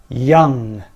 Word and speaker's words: young: just watch out young young it's a silent o in this one not young okay ambulance